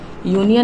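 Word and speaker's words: union: यूनियन में ए बताया, क्योंकि अगर हम इसे प्रोनाउंस करते हैं तो यूनियन का क्या होता है हमारा? य, और य वाई फॉर य। यह हमारा कॉन्सोनेंट साउंड दे रहा है, इसीलिए यहाँ पर हमारा क्या हो गया?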